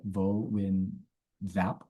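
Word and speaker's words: Võ Nguyên Giáp: Ho Chi Minh and Yo Win Yup, or Vo Win Zap, I think is how the Americans pronounce his name.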